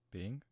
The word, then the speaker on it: Bing: Like actually, how do you pronounce it? Bing. Bing? Bing.